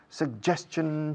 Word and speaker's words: suggestion: Suggestion. Chachan. Así se dice chachan. Suggestion. Así es la G en inglés.